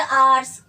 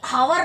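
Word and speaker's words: hours: तो usage of फॉर, फॉर कहाँ यूज करते हैं, जैसे आवर्स, ये हावर नहीं पढ़ना है ना, आवर पढ़ना है, this will be pronounced आवर्स।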